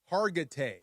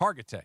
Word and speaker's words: Hargitay: Mariska Hargitay.